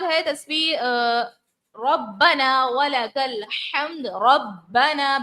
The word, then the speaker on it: ربنا: ربنا، با کو جماؤں سے ادا کریں گے، ربنا، الف مدہ ہے، کھینچیں گے، ربنا ولک الحمد.